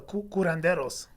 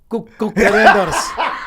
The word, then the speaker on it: curanderos: Mexicans have like the curanderos. See, it's different. Why don't you pronounce that?